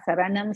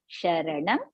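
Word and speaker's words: शरणं: So it should not be Sureshaha Saranam Sarma is wrong. So Sureshaha Sharanam Sharma.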